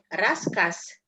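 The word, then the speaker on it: рассказ: Yang terakhir, raskas. Raskas. Kita bacanya pakai S, bukan pakai Z, bukan raskas, enggak. Raskas. Karena dia di Raskas. dia tambahan lagi di sini. Z seperti S. R. Z dibaca seperti S.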